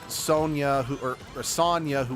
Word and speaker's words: Sonia: So, Sonic, Sonia, and Manic. Yeah, not Sonia. Sonia. Yes, it's spelled Sonia, but it's meant to they're the names are all meant to sound similar.